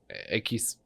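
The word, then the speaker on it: equis: Okay, that's why we got the misogyny warning, but the U is not pronounced. So ekis or once again is s pronounced so lost.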